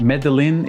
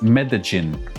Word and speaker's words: Medellín: It's not Medellin, it's Medellin.